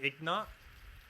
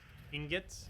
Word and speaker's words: ingot: I started by saying ignot. Ingots. Or ignot. Did I really mispronounce it that wrong initially?